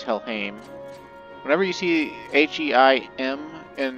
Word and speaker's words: Helheim: Fun fact, the sword we got is pronounced Helheim. It's not Helheim, it's Helheim.